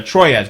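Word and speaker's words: Troyes: times there that the the troyz game or twah if you want pronounce it like a French the like dice game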